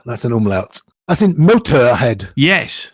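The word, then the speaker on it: Motörhead: That's in Motorhead. Yes. They put umlauts, but we don't pronounce it Motorhead, Yes.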